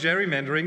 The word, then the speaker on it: Gerrymandering: Obwohl Garys Name mit einem harten G ausgesprochen wird, ist heute für das Wort Gerrymandering die Aussprache mit dem Wort Dschungel, wie im Wort Dschungel üblich.